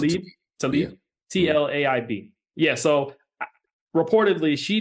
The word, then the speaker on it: Tlaib: I think they pronounce it Tlaib.